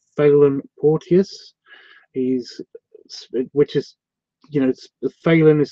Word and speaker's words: Phelan: It gets mispronounced as phallus all the time, and he has to yeah, it's really.